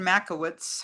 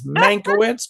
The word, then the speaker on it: Mankiewicz: On June 9th, Ben Makowitz hosted Steven Yeah, Spielberg. good pronunciation of his name, man. That's Mankiewicz, but we like Makowitz even better.